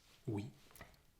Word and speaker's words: oui: o u i o u i this is pronounced we and you can find that sound in words like we which means yes of course and also in